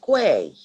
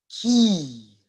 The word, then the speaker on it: quay: Naga how about this no wrong it's not Quay no it's not Quay it's key or Kina all the time